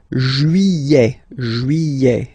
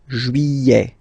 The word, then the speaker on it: juillet: Juillet. Don't pronounce this final T, E-T here at the end. Juillet.